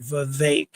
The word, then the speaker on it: Vivek: I still tried not to say it, but I just remember saying it like cake, Vivek, as in cake.